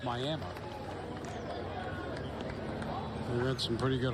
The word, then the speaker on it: Miami: Spelled like Miami, but in Oklahoma it's Miami.